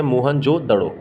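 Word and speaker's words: मोहनजोदड़ो: मोहन जोदड़ो तो मोहन जोदड़ो शब्द का सही उच्चारण है मोहन जोदड़ो इसकी खोज किसने की थी राखल दास बैनर्जी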